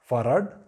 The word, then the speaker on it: Fahrrad: And next is Fahrrad, that is bicycle is Fahrrad. So you have 2 R's, you still pronounce it Fahrrad.